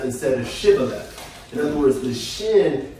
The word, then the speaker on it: Shibboleth: from the tribe of Ephraim because they said Sibboleth instead of Shibboleth. In other words, the shin, they pronounced, shin is a letter in the Hebrew language, they pronounced the sh as opposed to the s.